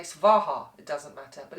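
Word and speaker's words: svāhā: It's spelt S-W-A-H-A. But in mantra and in Sanskrit, a V is equally a W. It's halfway in between. So it's SWAHA, SWAHA. If you say SWAHA, it doesn't matter.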